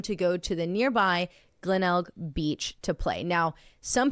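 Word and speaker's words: Glenelg: g at the end it's spelled Glenn g l n e l g and they say it's like kennel so glennel Glen Beach Glen yes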